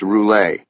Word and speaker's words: Roulet: Okay, so we're here to talk about Louisis Roulette, aren't we? It's pronounced Roule.